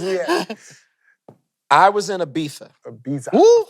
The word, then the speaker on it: Ibiza: I was in Ibiza. Ibiza. Woo. First of all, the Z is silent. It's Yeah. pronounced like a TH, okay?